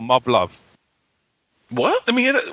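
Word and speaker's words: Muv-Luv: it's like Gundam in a sense it's called Mub Love. What? Let me hear that. Well, it's spelled M UV- L UV.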